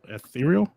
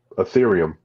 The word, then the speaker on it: Ethereum: 0.00001 ethereal. Ethereum. Which is like what is it? $3 basically. Just say ethereal. Fuck it. You're not gonna say it right anyway. It's Ethereum. It's Ethereum. ETH.